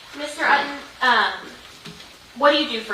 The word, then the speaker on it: Utton: My name is Utton. Last name is spelled U-T-T-O-N. It's just like Button, but there's no B.